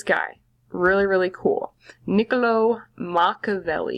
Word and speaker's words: Machiavelli: really really cool niccolò machiavelli you say his name mock of le & Machiavelli is going